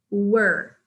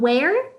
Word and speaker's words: were: Okay, pronunciation of were. Were. Not where, but were. Were. That's the pronunciation.